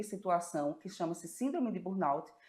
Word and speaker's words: Burnout: padrão O que é Burn Pois é um nome esquisito né um nome esquisito e tem que saber a pronúncia certinha Burnout você vai ler Bur mas é Burnout porque aqui a gente